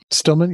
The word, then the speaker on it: Stillman: talk by Stillman is that the correct pronunciation right Stillman yes it is thanks for asking there's also